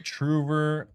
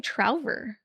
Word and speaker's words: Trouver: the Truver parchment system Oh, rework. do you say Truver? I say Trouver. Yeah, just say Truver.